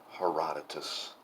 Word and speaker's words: Herodotus: I have finished a book, Herodotus, the history. And yes, I know that it's Herodotus, but apparently I'm like genetically predisposed to mispronounce Greek names.